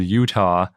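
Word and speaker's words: Eutaw: yes and it's called Utah because that's the name of the formation but it's spelled e-u-t-a-w so it's pronounced apparently just like Utah the state but it's spelled very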